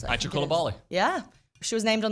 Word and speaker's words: Aicha Coulibaly: Is that how you pronounce it? Aicha Coulibaly.